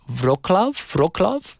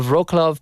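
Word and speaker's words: Wrocław: Wroclaw? Is that how you say it? W in Polish is usually pronounced as a V, right? So Wroclaw, Poland is actually emerging as the city with the best Korean restaurants.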